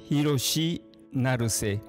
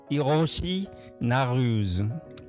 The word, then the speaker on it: Hiroshi Naruse: Bonjour, c'est je m'appelle Hiroshi Naruse. Ça, c'est prononciation japonais. Les Français, on dit Hiroshi Naruse.